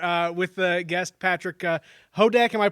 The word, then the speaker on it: Houdek: with the guest patrick hodak am i pronouncing that correctly kodak hoda pretend to use not there pretend the you is not there ho deck hoe deck hoe deck and uh